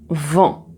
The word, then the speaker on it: vent: Alors donc pour prononcer le son en alors je vais regarder ici le petit schéma et je te le montre ici le son en dans vent.